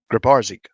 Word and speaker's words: Grabarczyk: Can please someone pronounce the name of the plaintiff? Grabarczyk.